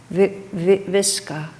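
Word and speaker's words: Vicka: particularly felt close to, Viska, I think is how the name is pronounced. In written English it looks like Vika, but that's not the right pronunciation.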